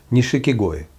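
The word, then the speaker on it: 錦鯉: And I also want you to hear the correct pronunciation of this, uh, goldfish, and karkoi in Japanese. Karko nishikigoi. Not shikigoi.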